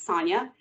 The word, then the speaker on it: Sanja: you were wondering why my first name is spelled the way it is but it's pronounced as sonia it's because i was